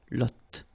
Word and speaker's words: lotte: and then la lotte, final E not pronounced, lotte, lotte, okay, la lotte, alright.